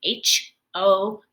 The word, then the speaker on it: house: And I also noticed that there's this E at the end that is not a silent E. It doesn't do anything. It's just an E that makes nothing, no sound. It's not a silent E or a magic E because it doesn't make the O say its name, like home. So it's just an E that says nothing or does nothing.